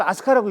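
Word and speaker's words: 飛鳥: 이렇게 비조를 이렇게 쓰는데 나를 비조 쓰는데 이걸 아스카라고 읽어요.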